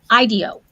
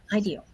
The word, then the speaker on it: IDEO: the pronunciation they said they they say Ideo so which that's better because that's like idea right Ideo very cool so thank